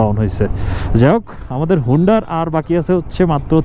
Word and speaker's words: হুন্ডার: হচ্ছে এই ডিস্কিট, তারপর হুন্ডার তুরতুকের দিকে। আমরা ডিস্কিট হয়ে এখন হুন্ডারের দিকে চলে যাব। আমি হুন্ডার বলতেছি, আবার কেউ হান্ডার বলে, ধরে নেন যে এটা উচ্চারণ করতেছি HUNDER, এটা বলতেছি, মনে রাখেন।